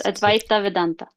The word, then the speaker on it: Advaita Vedanta: Um feel free to correct my pronunciation. So, one of your traditions that you said you had learned from was Advaita Ven Vedanta. It's Advaita Vedanta.